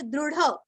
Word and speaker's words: दृढ़: स्वांगो जितः कृष्णो, दृढ़, दृढ़ निश्चय बोलते हैं ना, वैसे यहाँ पे दृढ़, ढ का उच्चार भी अच्छे से करना है, विसर्ग का आधा स,